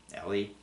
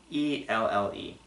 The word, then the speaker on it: Elle: Next one is Ellie. E-L-L-E. Yeah, it's kind of weird that I even screw up pronouncing simple names.